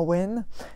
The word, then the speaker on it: Awen: saha j'ai eu le n mais ça se prononce à wayne c'est peut-être la première fois qu'on a une